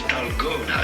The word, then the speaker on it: Dalgona: It's pronounced as Dalgona, so let's stick to Dalgona.